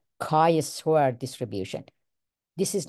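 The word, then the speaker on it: chi: letter Kai s so Greek letter chai pronounce Kai now Kos variable cannot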